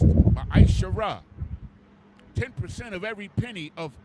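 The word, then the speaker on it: מעשר: Means 10th in the Hebrew and is pronounced Ma'ashara.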